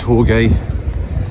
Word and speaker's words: Jorge: Jorge, I think it is. A lot of people here. Yeah, but J is definitely pronounced H. So it's Jorge. As in Jorge Lorenzo.